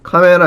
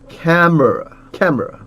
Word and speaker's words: camera: 카메라 아니에요. 카메라는 한국말이고 camera 여기 에 발음 있죠. 에 발음 위에 강세가 옵니다. camera 오케이.